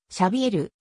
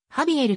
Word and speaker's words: Xavier: れているなおスペインにおいてシャビエルはカタルーニャ語でシャビエルカスティーリャ語でハビエルと一般に発音されるが個別にどう発音